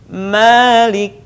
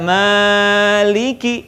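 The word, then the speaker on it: مالك: Malik. Ingat tidak maliki.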